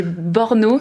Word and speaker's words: Brno: Je le prononce mal, c'est Brno, c'est Brno. B-R-N-O, Oui. donc je vous laisse prononcer les 4 consonnes de suite, les 3 consonnes de suite.